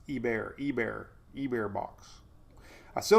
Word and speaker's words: Hebert: it's the heber box i don't think there's an h it's e-bear e-bear e-bear box i